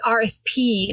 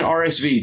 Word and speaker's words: RSP: It's RSP like Paul. Why do I keep saying RSV just like you always call um RSVP?